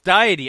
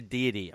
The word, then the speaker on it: deity: the self ah oh it's diety unw worship diety oh okay I I've been pronounced a deity my my apologies oh